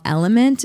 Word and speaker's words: LMNT: There's a company called Element. It's spelled LMNT.